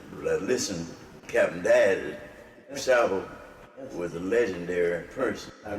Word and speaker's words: DuSable: Jean-Baptiste Pointe de Sable, later, because people called it disabled, changed the pronunciation to DuSable.